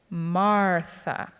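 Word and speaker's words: Μάρθα: The accent's supposed to be on the first syllable. Martha.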